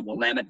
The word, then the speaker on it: Willamette: just a second so of course Willamette rhymes with damnit Valley is approximately 80